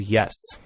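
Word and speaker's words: Yesss: Her name is Yes. It's spelled Y-E-S-S-S.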